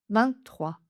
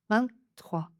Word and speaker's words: vingt-trois: 23 23 On retrouve le principe des deux prononciations possibles. La première 23 23 et la deuxième avec le petit N 23.